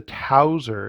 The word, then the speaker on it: Towser: the the specs there so this is the tauser and every time i read that name tauser